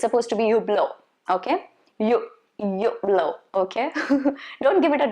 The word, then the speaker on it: Hublot: T is silent and H is also supposed to be silent, supposed to be Hublot.